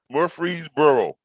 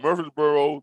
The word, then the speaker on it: Murfreesboro: i i guess murphree murfreesboro okay i guess you pronounce it murphy's like like like you say the name murphy but a spell f-m-u-r-f-r-e-e